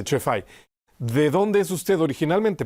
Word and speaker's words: Cefai: Monseñor Chefai, para pronunciarlo correctamente, Chefai.